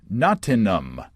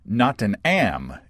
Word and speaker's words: Nottingham: to feel all cultured us locals pronounce it nanum or notam if you're from the south of England so notam or notam uh with a silent h Nick says well Nick